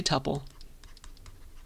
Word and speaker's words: tuple: Tuple pronounce Tuple or alternatively some people say tupple tupple I say it this way that's the way I learned it that's the way my computer science professor said it uh so pick pick